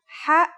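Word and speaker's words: حاء: eating something very spicy the closest English counterpart to the sound is H the only difference is that it comes from a point deeper down in your throat just like this try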